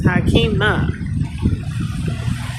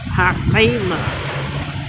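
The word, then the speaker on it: Haqimah: And before I was born, it was Hakima. Hakima. I spell it H-A-Q-I-M-A-H. H-A-K-I-M-A-H means wise. But if you put it with a Q, H-A-Q means truth.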